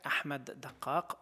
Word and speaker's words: Ahmad Daqqaq: Je m'appelle Ahmad Dakkak, Ahmad Dakkak en arabe.